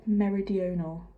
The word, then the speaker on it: meridional: It's the meridional. Don't overthink it.